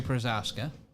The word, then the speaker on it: Procházka: say it, but thank you so much, Jiri Procházka.